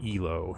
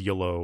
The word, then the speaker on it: yloh: that's good the so the SMD Huntsman by ELO and that is the correct way to pronounce it right that is correct actually a